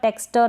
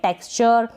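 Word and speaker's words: texture: फिर ये है टेक्सचर, टेक्सटर ना पढ़े, टेक्सचर।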